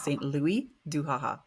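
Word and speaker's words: Saint-Louis-du-Ha! Ha!: First of all, you're not going to pronounce the S because it's French. Haha. He was Saint Louis du Haha.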